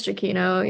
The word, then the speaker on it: Giacchino: I don't know how you pronounce it. Michael Giacchino. Giacchino? Okay. I think it's Giacchino, yeah.